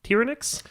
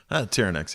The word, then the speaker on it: Tyerenex: Terran X yeah okay I hear people pronounce it like multiple ways yeah it can be it can be Terran X it's just whatever you want to call me and I I know